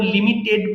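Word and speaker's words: limited: অথবা টিড পান, টিইডি, তাহলে সেই ক্ষেত্রে যেমন লিমিটেড বলি, উচ্চারণ হয় লিমিটিড।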